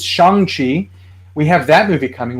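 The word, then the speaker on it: Shang-Chi: pronunciation this whole time i've been calling him shang chi it's shanxi we have that movie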